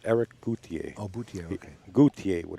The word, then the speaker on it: Eric Cloutier: His name is pronounced Eric Cloutier.